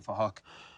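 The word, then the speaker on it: Phuc: His name is Fahak. It's spelled with a PH, so it sounds like Fahak.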